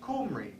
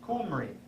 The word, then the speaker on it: Omri: In Hebrew, his name was pronounced Kumri, because in Hebrew they gutturalized the first vowel of a word, a beginning vowel of a word. So Omri was really pronounced Kumri.